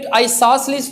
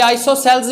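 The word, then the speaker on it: isosceles: तो यहाँ पे आइसोसेलेस ट्राइंगल में 2 साइड्स इक्वल होती हैं। कोई आइसोसेल्स भी कहता है, मगर डिक्शनरी में इसका प्रोनाउंस क्या है? आइसोसेलेस। आइसोसेलेस क्या है?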